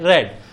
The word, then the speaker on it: read: अब being plus verb की third form, तो रेड रेड रेड, स्पेलिंग वही रहेगी, प्रोनाउंसिएशन इसका होता है रेड।